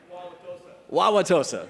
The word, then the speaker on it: Wauwatosa: Wauwatosa, there we go.